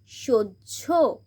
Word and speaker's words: সহ্য: এবার 2 নম্বর পয়েন্ট, হয়ের পরে যদি জফলা থাকে তাহলে হ প্লাস জফলা মিলে হয় জঝ উচ্চারিত হয়, জঝ সাউন্ড হয়। যেমন দন্তেশ হয় জফলা, জ ঝ। সহ্য, গয়রাফলা আঁকা হয় জফলা, জ ঝ।